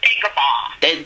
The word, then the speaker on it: Dagobah: How you pronounce it, that planet, anyway? It's Dagobah. Dagobah, yeah, it's a good, funny word, yes.